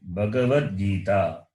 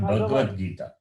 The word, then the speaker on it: Bhagavad Gita: Bhagavad Gita, not Bhagavad Gita. That ga is Gakara plus A. The vowel A is there. The A should be pronounced.